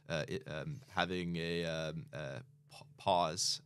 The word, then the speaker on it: POS: um having a um pause I believe is how you pronounce it in Australia so this was the